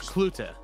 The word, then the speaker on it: Cloete: It's Cloete. Cloete. Yeah, Cloete, like C-L-U-E-T-E-H or C-L-O-O-T-A. So Cloete.